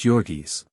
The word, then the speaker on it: Jurgis: with the mighty shoulders and the giant hands pronounced joris Ona was blue-eyed and fair while jurgis had